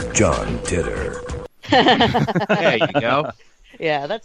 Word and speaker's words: Titor: So if I have any new listeners, they won't think that I don't know how to pronounce John Titter. Titor. His name, John Titter. Yeah, it's John Titter.